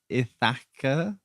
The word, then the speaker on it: Ithaca: i kept writing it it's thicker but it's ithaca yeah i think it's spelt it's said the same isn't it yeah